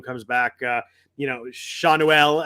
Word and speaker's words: Schanuel: back uh you know seanuel I was trying to work on that pronunciation uh shonduel goes back down or stops playing um obviously he just came up but uh were you in on Nolan Shawn Noelle I looked it up and I think